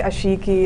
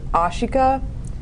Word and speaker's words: Ashika: Some people call me Ashiki. It's really, really weird. But no, I've never been called by how my name is actually pronounced, which is Ashika.